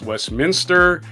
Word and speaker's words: Westminster: I said, there's no extra I in there. It's pronounced Westminster. I've heard it on TV, pronounced Westminster. It's not Westminster. Minister is something you keep adding.